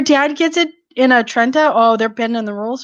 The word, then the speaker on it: Trenta: Kira, you can't get a macchiato and a Trenta. No. Mm-mm. Oh, okay. It's not Trenti. It's Trenta. Just to let you know. So if you go there Oh. and if you say Trenty, they'll probably be like, no, you can't order now.